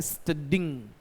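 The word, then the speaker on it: studying: स्टडी में आईएनजी लगाया जाता है तो इसका प्रोनाउंसिएशन बनता है स्टडिंग।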